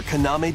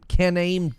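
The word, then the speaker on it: Kaname: No sleep for Koname Date from I. The Somnium Files launches on the Nintendo Switch system July 25th. I pronounced that so wrong. Konami. No sleep for Canon. Canon caname date.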